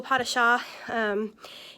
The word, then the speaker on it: pas de chat: friend see if they can help you google pot of shaw in on google or in youtube and see